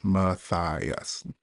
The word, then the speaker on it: Matthias: I always joke, it's phonetically spelled. You just sound it out. Matthias.